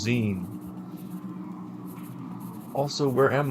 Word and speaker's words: zine: Oh man, this guy is me cuz I used to say Z. It's Zen as in magazine. I am guy on the left. You are brown BB explaining to me that it's pronounced Zen.